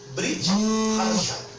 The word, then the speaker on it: Brit Hadashah: Qual a pronúncia? Brit Hadashah.